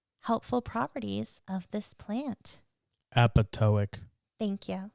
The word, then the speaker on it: apoptotic: Apoptotic. Thank you. The second P is silent.